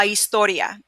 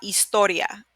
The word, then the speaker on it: historia: Next one, la historia. La historia. And remember, H is silent, so you kind of skip that when you're pronouncing it, and you go straight to this sound, which is the E sound, right?